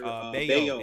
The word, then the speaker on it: Bello: So Brian Bayo has become a bet on pitcher for me. He's pitching so well that I've actually started pronouncing his name correctly. I was saying Bello forever.